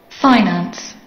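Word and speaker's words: finance: രണ്ട് രീതിയിൽ നമുക്കിത് ഉച്ചരിക്കാൻ സാധിക്കും. ഇതിൻ്റെ പ്രൊനൗൺസിയേഷൻ രണ്ട് രീതിയിലുണ്ട്. നമുക്കത് കേൾക്കാം. ഫൈനാൻസ്, ഫൈനാൻസ്, ഫിനാൻസ്, ഫിനാൻസ്. ഇങ്ങനെ രണ്ട് രീതിയിൽ ഉച്ചരിക്കാൻ സാധിക്കും.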